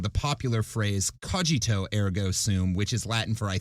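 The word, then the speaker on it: cogito ergo sum: least one well-read woman thought he was merely mispronouncing the popular phrase kojito Ergo soon which is Latin for I think therefore I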